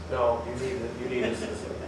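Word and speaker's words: Ioannidis: by a guy named John Unitas. It's a Greek name. You know how Greeks always spell things? No, Unitas. But it's spelled I-O-A-N-N-I-D-I.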